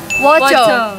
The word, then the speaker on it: wajah: Wojo. Oh ya, sip. Ternyata udah benar. Betul jawabannya wojo. Wojo, tulisannya wajah, bacanya wojo.